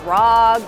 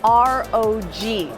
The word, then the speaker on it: ROG: going on right here whether you call this the asu's rogue or rogue it's actually our og that's how they say it internally the ROG phone and